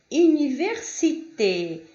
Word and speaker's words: université: Vamos lá, quando vocês tiverem o ER, o EZ e o E com acento no final de uma palavra, vocês vão ter a mesma pronúncia, que é E.